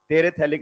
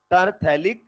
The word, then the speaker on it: terephthalic: यह टेरेथैलिक नहीं, terephthalic अम्ल।